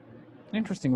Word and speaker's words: interesting: want or need interesting interesting right very very interesting oh just by the way i'm going to go out i'm going i'm going out of the topic real fast interesting three syllables yeah interesting interesting okay